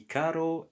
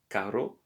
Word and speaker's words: carro: Notice here there are double R, and you don't have to say carro, carro, but carro. Mi carro es perfecto.